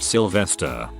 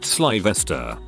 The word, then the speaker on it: Slyvester: called sleeve esther and she pronounced it sylvester he corrected her and said it was pronounced slyvester she asked what idiot named